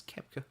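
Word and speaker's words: Koepka: greg there for saying the great pronunciation of bruce kepka that's kepker ladies and gentlemen he is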